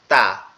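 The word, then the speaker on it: ت: সেটা হচ্ছে তা। জিহ্বার আগা সামনের দুই দাঁতের গোড়ার সঙ্গে লেগে উচ্চারিত হবে তা তা তা এভাবে, ঠিক আছে?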